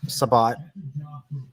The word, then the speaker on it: Sabat: And and Chris and Chris Chris Sabat. I don't care if he wants his last name to be pronounced as Sabbat. I'm saying Sabat. I'm I'm saying it how I read it.